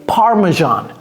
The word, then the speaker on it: parmesan: pas évident du tout donc vous apprenez la prononciation également ok ça c'est parmesan Parman cheese par je sais il y a